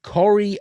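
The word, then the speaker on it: Kari: out here's a hint my first name rhymes with sorry it's norwegian so it's corey and it's about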